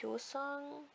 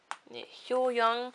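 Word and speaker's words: Hyoyoung: Yeah, I think that's Hyo Song. Hyo Young, sorry, I every time I pronounce the name wrong.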